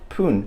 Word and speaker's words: 分: Now, the word for minute here is fun, but you'll notice that sometimes it is also pronounced pun in certain cases.